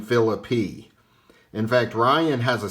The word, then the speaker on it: Phillippe: We can eliminate the Philippi pronunciation.